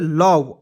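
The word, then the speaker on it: love: यहाँ देखिए L से होता है लॉ और V से होता है व, और इसमें ओ और ई साइलेंट रहता है दोस्तों। तो LOV क्या पढ़ते हैं, लव।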